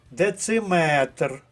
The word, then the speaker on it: дециметр: а варіант а викреслили друге дециметр третій склад заєржавілий третій склад травестія